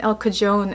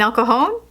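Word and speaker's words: El Cajon: was like oh we're in El kajon and I'm like what El Jo you mean alcoon and he's like yeah yeah whatever and I was like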